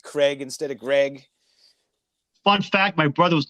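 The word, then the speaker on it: Graig: Well, his name's Greg, right? But the way it's spelled, everybody calls him Craig. Yeah, because it's spelled it's Greg, right? Yeah, it's Greg. But it's spelled like Craig.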